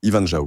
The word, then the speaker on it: Ivan Zhao: Ivanjao, comment on le prononce?